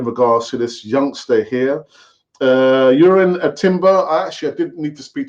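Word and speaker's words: Jurriën Timber: Urin Timber.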